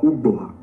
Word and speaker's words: Ugboha: But by reason of the various dialects that is spoken in Esan language, it can be pronounced as Owaha or Ugboha.